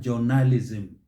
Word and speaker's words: journalism: of that first syllable it is ja not jo and then towards the end not journalism the stress is on the first syllable how about this one